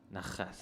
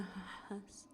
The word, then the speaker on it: Nahas: It's Nahas. It's not no, a not exactly. not It's less in the nose. It's more. It's closer to H. You know. Nahas.